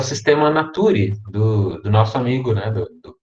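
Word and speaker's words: Systema Naturae: é a pronúncia dessas duas letras né mas pronunciamos o nome dessa obra comum sistema nature nature não fala naturae a gente sistema nature e o que me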